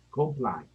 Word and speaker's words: comply: Comply. Sí, pero sí está bien escrito, ¿cierto? Sí, pero tienes que pronunciarlo bien porque si no parece completo y es diferente.